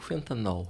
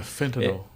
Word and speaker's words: fentanil: É fentanil ou fentanol? Porque o fentanil é um anestésico, né? É fentanil. A pronúncia, né? É quase ó.